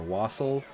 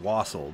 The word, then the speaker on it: wassail: stuff called wassail or wassel i think it's pronounced wassel but it looks like wassail uh we'd never had